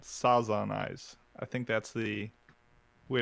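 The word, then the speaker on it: 3×3 Eyes: 3 eyes. The X is silent. No, it's Sazan Eyes. Sazan Eyes.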